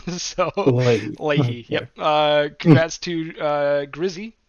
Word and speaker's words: Leahy: I have been corrected on stream about the pronunciation. So Late. Leahy.